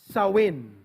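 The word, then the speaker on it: Samhain: it to their God somehing or actually pronouns sawin that's how they pronounce it so in which occurred on November 1.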